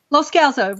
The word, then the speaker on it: Loscalzo: Ritamarie Loscalzo. Is that how I'm saying it right? Loscalzo, really close.